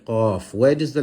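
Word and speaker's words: ق: The letter qaf, this one here with 2 dots, originates from the back of the tongue when touching the palate. The back of the tongue when touching the palate, the letter qaf is pronounced.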